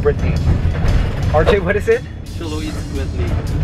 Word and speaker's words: Xoloitzquintli: Xoloitzquintli. Xolo eats quintly. Xoloitzquintli.